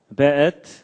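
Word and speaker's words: וְאֵת: 그 다음에 앳, 하샤마임, 베엣. 요게 이제 W인데도 여기에 독일식 발음을 해서 베 이렇게 읽는다고 합니다. 예, 베엣, 하아렛.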